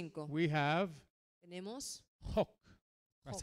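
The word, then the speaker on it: חֹק: In Psalm 119, verse 5, En el Salmo 119, versículo 5, we have tenemos Hok. That's how Hok. it's pronounced. Hok, like you're going to spit.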